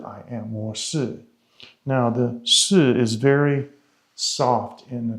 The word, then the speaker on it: 是: There's a syllable that you would pronounce like shi, like S-H-I, shi. It's used for a positive, like am or yes. It's a positive particle.